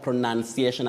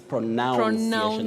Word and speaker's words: pronunciation: You remember when we started when I talked of pronunciation and it was like what Willis are you kidding people thought it's pronounceation which is not there the verb is pronouns